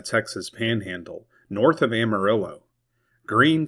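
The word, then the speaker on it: Gruene: Green, Texas. Pronounced just like the color, not Gruen.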